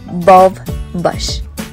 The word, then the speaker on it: bulbash: word means source and it's pronounced as above bush like if you combine a light bulb and a bush bob bush so first i want